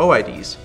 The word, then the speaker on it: OID: are called object identifiers or oh I DS or oit's depending how you want to pronounce it so a mid is